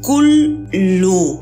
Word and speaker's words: Cthulhu: Lovecraft transcribe la pronunciación de Cthulhu como Kulu. Esto en castellano sonaría similar a Hluklu.